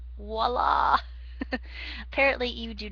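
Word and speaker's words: voilà: um unveiling one of his innaters he says viola yes i know it's a large violin that he went uh inside science high science it's pronounced voila apparently you do not speak french but yeah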